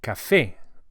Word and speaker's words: café: A coffee is un café. Un café. And we emphasize the e vowel as it has an accent on it, which indicates the stress. So it's café and not café.